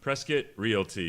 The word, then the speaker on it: Prescott Realty: yeah I mean yeah so it's Prescott Realty press kit Realty that's how we say it that's how they say it and that's how you should say it exactly when you need